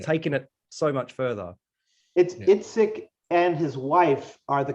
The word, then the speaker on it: Yazbek: There's a song, and I love the difference, the conversation between, I assume, Yazbek, I hope I pronounce that right.